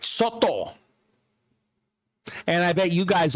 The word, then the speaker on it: Soto: Soto.